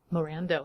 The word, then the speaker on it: Morando: wait how do you say your last name Miranda okay that's what I thought but I didn't